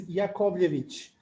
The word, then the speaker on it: Yakovlevich: this actual event so my pronunciation of my last name you asked me for uh i completely understand that it's a little bit hard for you but it is yakovlevich it is literally okay